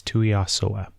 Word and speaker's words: Tuiasoa: I have to pronounce her name like that because it's a tongue twister, and I apologize, Amber, but it's Tuiasoa.